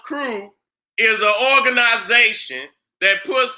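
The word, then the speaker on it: krewe: Now I say right there, a crew, pronounced crew, is an organization that puts on a parade or ball for the carnival season.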